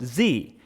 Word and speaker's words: ze: ze, is the subject pronoun and is pronounced ze, and her is the object and possessive pronoun and is pronounced her.